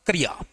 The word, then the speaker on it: क्रिया: इसमें क जो है वो स्वर विहीन है और यह जो इ की मात्रा है यह र पर लगी हुई है। र पर लगी हुई है। तो इसका शुद्ध उच्चारण होगा क्रिया।